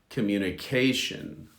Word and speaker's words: communication: So the stress is on the CA of communication. Communicate, communication.